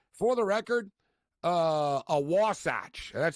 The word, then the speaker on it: Wasatch: uh a wasach and people don't really even know that's that's how you pronounce it a wasach and the Utah wasach